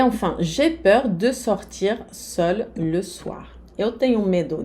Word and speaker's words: seul: A pronúncia não muda, seul, sozinho, seul, sozinha, mas na escrita, a letra E, que é a marca do feminino.